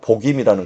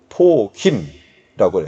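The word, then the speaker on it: 보킴: 여러분, 바쿠시라는 말하고 복임이라는 것은 원래 원어가 브 발음이 아니라 프 발음이 돼. 바쿠 그리고 포킴이라고 해요. 포킴.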